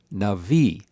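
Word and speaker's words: נביא: In davar navi, this word, the first word, loses its accent, and the only word that has an accent is the final word, navi.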